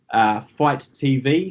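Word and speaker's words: Fite: So if you're a fan, they will probably be available on Fight TV. So you can download the app, Fight TV, which is spelled F-I-T-E.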